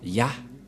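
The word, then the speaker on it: יה: allons réécrire allons-y euh en premier c'est y et he et ça se prononce selon les Juifs le premier terme que je fait mettre en bas sa prononciation ce luit y et l'autre se lit ah h je vais expliquer simplement et lorsque on va regrouper à la normale ça se transforme en ya que nous allons écrire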